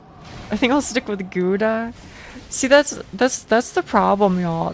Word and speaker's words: Gouda: The OU is pronounced like the O and how. And G is a frictive created with a back of your mouth, like Gouda.